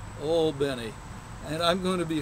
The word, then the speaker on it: Albany: all bny Georgia and that's the way the folks of Al Benny pronounce it not like Aly New York Al Benny and I'm going to